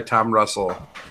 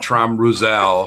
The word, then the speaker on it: Tom Russell: does indeed show up designed by Tom Russell not traum Rozelle thank you terrible that's